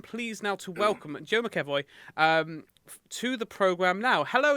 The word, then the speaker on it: McEvoy: How would you pronounce that? It's McEvoy.